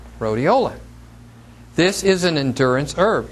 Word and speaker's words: Rhodiola: this herb right here I pronounce it riola some people say rodelia it has a couple